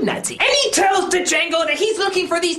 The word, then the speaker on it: Django: bum tonight's review D Jango Unchained oh my God this is the greatest